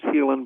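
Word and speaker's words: Haelan: can find it as healing products calm it's pronounced healing but it spells eight like Ellen hae LAN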